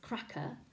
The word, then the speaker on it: cracker: pronounced like that no it's pronounced the same as cracker packer and it's a soft sound it's called a schwa and you may have